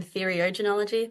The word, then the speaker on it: theriogenology: Actually, my PhD is in theriogenology. That's how you pronounce it, Trish.